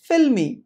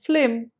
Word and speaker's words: film: loud and filmy but when they refer to a movie or a cinema they end up saying flim instead of film so our advice to